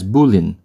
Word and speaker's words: bowline: number two Boling KN the Boling pronounced somewhat counterintuitively as bullin is a classic knot